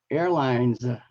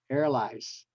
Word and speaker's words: airlines: angel okay and uh airlines not airl you go to the airport they always say uh inside in Vietnam they always pronounce it as airli the reason is they drop the n Sound they proun instead of pronouncing line they say lie Li so they drop that and then they add the S rather than the Z because if you have